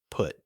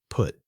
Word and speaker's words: put: Put. B. Cut. C. Shut. D. Nut. Think carefully. 5 4 3 2 1. The answer is A. Put. Put has a different vowel sound than the other three words.